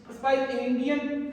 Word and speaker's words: Spigelian: Doctor कोमल की क्या pronunciation हो गई? स्पाइलिंगियन हर्निया, ठीक है। इसकी ये प्रोनाउंसिएशन कर लीजिएगा, ठीक है।